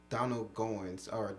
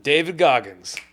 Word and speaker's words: David Goggins: I read Donald Goins, I think I'm saying his name wrong, right?